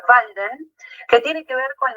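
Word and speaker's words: Walden: Por otra parte, va a escribir otro texto que en alemán se pronuncia Valden, que tiene que ver con la presencia y su exilio y aislamiento y reclusión en el bosque.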